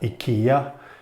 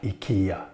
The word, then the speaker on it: IKEA: I'm from Sweden so I know that akia is pronounced like IKEA not IKEA as an American says and this is a